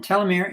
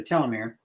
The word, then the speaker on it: telomere: are similar to a telomere pronounced different ways by the way I like telomere because it's more telescope it's teal which is what we're looking